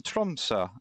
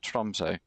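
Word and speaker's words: Tromsø: We're in Tumsa again. I think that's how you pronounce it. It's not Trumso.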